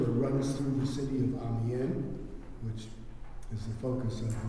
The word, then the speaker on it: Amiens: through the city of Amen which is the focus of this exhibit am m i ns don't pronounce the S I'm doing some work